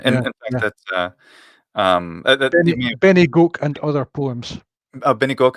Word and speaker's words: Bennygoak: Benny Gok? Benny Goke. I'll spell that for you. It's not a. It's a place name. So there's a poem in the book about this place called Benny Goke. That's spelt Bennygoak. Two words?